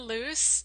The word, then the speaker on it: Luce: for our first Brave victim we have Morgan loose and did I pronounce that right yes you did okay good